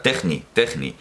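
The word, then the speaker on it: τέχνη: Y además tampoco lo estoy pronunciando en griego moderno, porque en griego moderno la eta sonaría I, una larga cerrada, al final el sonido es como I, sería techni.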